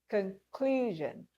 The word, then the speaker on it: conclusion: Conclusion. Which part of that word is stressed? Clue. Conclusion. In these four examples, you can see that we have stressed syllables.